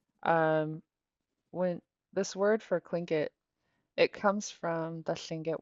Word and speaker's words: Tlingit: They ended up putting a TL, and then over time that TL started to get pronounced as a K. And so it's just an historical, I don't know what you would say, outcome of kind of anglicizing Tlingit, the word for human